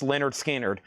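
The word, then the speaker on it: Lynyrd Skynyrd: Lover Boy Wildside is $19.99 and Leonard Skard Pronounce Leonard Skinnard.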